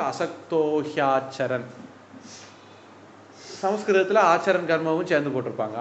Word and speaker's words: असक्तोह्याचरन्: சமாச்சார அடுத்தது அசக்தஹ ஹி அது அசக்தோஹி அப்படின்னு ஆகிடும். அசக்தஹ ஹி ஆச்சரன் ஹி ஆச்சரன் சேரும்போது ஹியாச்சரன் மாறிடும். எல்லாம் சேரும்போது அசக்தோ ஹியாச்சரன்.